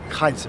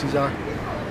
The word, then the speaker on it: Caesar: Kaiser so you know there is no C in in a Latin in the Greek in the Latin it's pronounced Kaiser right how do you say Caesar in uh Spanish you say Cesar uh Cesar Cesar so